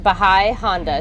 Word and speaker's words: Bahia Honda: This is pronounced Bahai Honda State Park.